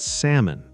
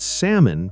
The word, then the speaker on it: salmon: are Wednesday, restaurant, and salmon. Great choices. Wednesday becomes Wednesday. The first D is silent. Restaurant becomes restaurant. The middle sound gets shorter. And salmon becomes salmon. The L is silent.